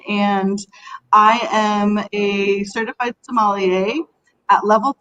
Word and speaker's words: sommelier: about the opinions of a certified Somali a am I saying that correctly let's just start there because I always think I'm gonna say it wrong so I say Psalm well hello thanks everyone for joining us today yes Kristin you hit it right on a Somali a